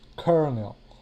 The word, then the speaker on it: colonel: take this word here this word is written colonel but it's pronounced kernel now the reason it